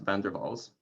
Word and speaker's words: van der Waals: der waals gas vander i believe that actually pronounced van der vaals i think it was dutch and so the van der